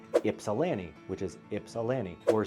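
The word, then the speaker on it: Ypsilanti: And we get a kick out of teaching non-M Michigan friends how to properly pronounce places like Ipsalani, which is Ipsalani or Sue Staint Marie.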